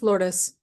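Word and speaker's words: Lourdes: say your name wrong is it Lords is it lordes is it lues hi it's lordes I love it okay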